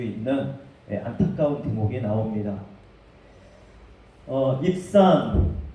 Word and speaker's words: 입산: 입산, 히브리 말로는 입잔이라는 발음에 더 가깝습니다.